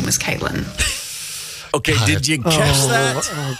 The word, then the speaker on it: Cviiilyn: I really feel like that would be pronounced civilian.